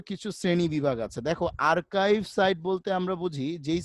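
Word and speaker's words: archive: Business site বলতে আমরা স্যার এটা দেখা কি যায় আর্কাইভ সাইট হবে নাকি আর্চিভ হবে? আর্কাইভ হবে, উচ্চারণটা হবে আর্কাইভ, বুঝছো?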